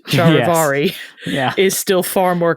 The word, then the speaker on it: charivari: English as well and English has a tendency to slur words and clip them short thus over time shiveri became a common pronunciation the spelling is sometimes